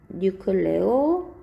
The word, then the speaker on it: 뉴클레오솜: 뉴클레오솜. 뉴클레오솜. 원래는 이렇게 발음하니까 좀도 되고 솜도 돼요.